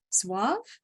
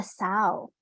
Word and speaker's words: xauv: And I'm gonna butcher the pronunciation here. Suave? Do you Let me see. XAUV? I apologize. Oh, the sow.